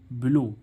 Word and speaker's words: blow: ऐसे ही इसमें देखें बिलो, BLOW, बिलो, बिलो means फूंक मारना, बिलो मीन्स क्या हो रहा है, फूंक मारना।